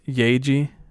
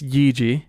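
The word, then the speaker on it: Yaeji: now her spelling is i thought it was yeji yes not it's yiji and it's spelled y-a-e-j-i so like i said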